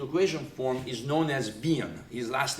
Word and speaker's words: Wien: form, is known as Wien. His last name is Wien, W-I-E-N, and in German we pronounce the W as a V, okay?